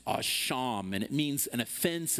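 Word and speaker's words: אָשָׁם: The Hebrew word that we translate guilt in this particular verse is a word pronounced asham, and it means an offense, it means guilt, it means debt, it means an act deserving retribution, or rather restitution.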